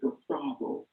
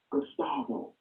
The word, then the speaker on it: Gustavo: Nobody wants to look at him and say, his name is Gustavo, not Gus. Gustavo. But we are too lazy to use those three syllables to pronounce his name.